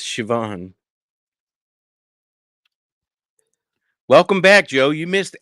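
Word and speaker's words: Siobhan: know like silent letters the Irish name Shivan it's spelled Cobian yeah but it's Shivan welcome back Joe you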